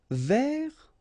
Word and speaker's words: vers: Vers. So you don't pronounce the final S, means towards or about.